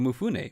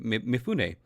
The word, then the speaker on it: Mifune: will be played by toshiro mufune mifune I keep pronouncing his last name wrong uh yeah but he will be played posthumously by toshiromifune and I'm pretty sure